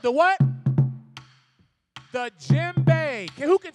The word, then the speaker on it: djembe: The djembe, the D is silent. Starts with a D. This is called the djembe.